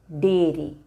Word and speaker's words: dairy: But its pronunciation, dairy.